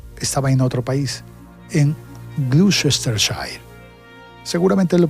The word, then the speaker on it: Gloucestershire: Ok, Google, ¿cómo se pronuncia este nombre en Inglaterra? Gloucestershire. Muy bien, nació en Gloucestershire, Inglaterra.